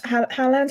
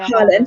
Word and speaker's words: Haaland: Haaland, how do you say his last name? I don't even know. Haaland, I think. Right, Haaland.